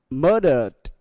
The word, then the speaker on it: murdered: Và ED được phát âm là D.